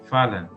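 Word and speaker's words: Fallon: llamado Tomás fala el el apellido fallan se escribe fallón pero se pronuncia fala entonces por eso quedó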